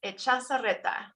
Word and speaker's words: Echazarreta: How do we say it correctly? That is Echazarreta.